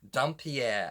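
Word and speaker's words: dhampir: If you see my other reviews, you will see that I've said dumpier, dempire, demper, don't know how to say it. I believe the correct pronunciation is Dumpier.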